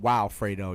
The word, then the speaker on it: Wilfredo: my my name ends with a o2 wilfredo but i'll pronounce it wilfredo i pronounce it wow fredo you know what i'm